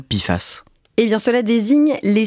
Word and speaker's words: PFAS: Émilie Torgemen, avant d'aller plus loin, expliquez-nous ce que désigne l'acronyme PFA que l'on prononce à l'oral Pifas.